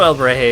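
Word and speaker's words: Alebrije: So it's heh, not hey.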